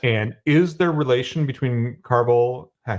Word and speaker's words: Carvel: And is there relation between Carvel, I pronounced it right, Carvel, You got it.